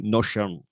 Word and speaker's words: Notion: Alors Christelle qui me reprend, qui me dit Notion, ça se prononce en anglais Notion.